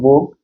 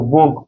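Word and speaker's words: vogue: we say this word vog means in fashion so vog we pronounce this part only right V rather than U and E also so we do not pronounce this U and E also there yeah we say only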